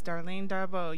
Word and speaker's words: Darlene Darbo: I'm Ro Williams, and sitting next to me is the beautiful Darlene Darbo. Did I pronounce it correctly? Yes, Darlene Darbo.